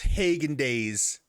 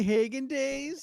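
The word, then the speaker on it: Häagen-Dazs: Steph, it's pronounced Hagen Days. You're so annoying. Don't fall for that. Don't fall for that. I'm not gonna start saying that. I'm not. I know it's wrong.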